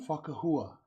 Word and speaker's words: Fukahua: Fakahooa.